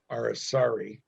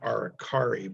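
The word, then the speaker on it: aracari: sadil that pronounced soft most of those birds their family was named in brazil where they speak portuguese our asari is a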